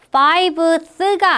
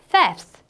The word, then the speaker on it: fifth: fiveth가 아니라 스펠링 살짝 변하면서 fifth 이렇게 읽고 쓸 때는 FIF 뒤에 TH를 붙여주시면 되겠습니다.